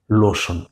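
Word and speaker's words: lotion: LO, লো, TION শন, লোশন। তাহলে বিষয়টা কি বুঝা গেল? কোনো শব্দের এমনি ভাবে আমরা শেষ অংশে যদি TION দেখি, তাহলে বুঝে নেব এই শব্দাংশটুকুর উচ্চারণ হইল শন।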